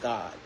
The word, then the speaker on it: Gad: But I've been telling you in Hebrew the tribe God Gad was actually pronounced God right?